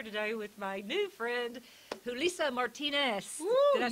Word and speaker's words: Julissa Martinez: I'm sitting here today with my new friend, Julissa Martinez. Did I say that right? Thank you, for pronouncing it correctly.